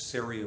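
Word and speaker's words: Ceria: years when we launched serie a brewing company syria rhymes with area and so before i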